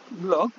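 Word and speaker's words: 블로그: মিলে, আমি আবারও বলছি, যেই সব শব্দ ইংরেজি এবং নাউনের সাথে মিলে সেই সব শব্দ আমরা ফ দ্বারা না পড়ে সরাসরি ব উচ্চারণ করব।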